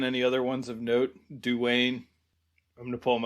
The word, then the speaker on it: Duane: But Dwayne is spelled interestingly. It's Duane. So that's why, you see a name like that, you're tempted to say Dwayne Dunham. Yeah. I think it's just Dwayne Dunham.